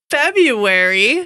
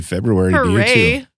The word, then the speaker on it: February: we are here it's February wow happy February by the way I always pronounce the r in February and people tell me